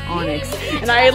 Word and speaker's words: Onyx: Well, I was pronouncing it Oinks because years and years ago, William told me it was Oinks. Apparently, I shouldn't have trusted him because it's Onyx.